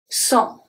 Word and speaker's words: sans: Sans. Sans. This one is interesting because A-N make the sound EN, exactly like E-N.